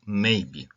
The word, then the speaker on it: maybe: одне слово це прислівник і зверніть увагу наголос іде на початку Maybe пишеться разом Maybe -